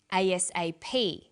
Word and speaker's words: ASAP: is pronounced separately but the last letter is pronounced more strongly because it carries the primary stress so we say us a ASAP ABC and TV listen